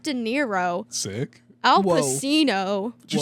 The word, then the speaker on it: Pacino: It's like Pagino. Is that how you say it? Pacino. Yeah. dude. That sounds Al wrong. There's Pacino. no shot. You said Al Pacino. Pacino sounds more Italian.